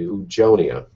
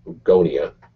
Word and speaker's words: oogonia: So during prenatal development of female, the oogonia, or oogonia, depending on how you want to pronounce it, divide by mitosis to produce more oogonia, and these develop in the primary oocytes, or egg cells.